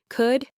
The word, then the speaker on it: could: Could. You only hear could.